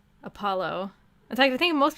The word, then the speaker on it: Apollo: I've always pronounced it like apology. Apollo? How did I say it the first time? Apollo. Oh yeah, I put emphasis on the po, don't I? Apollo.